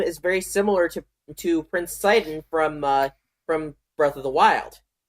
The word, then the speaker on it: Sidon: For the longest time, I didn't know how to pronounce Sidon's name, whether it was Sidon or Sidon or Shedon. But then I thought about it. Sidon, Poseidon.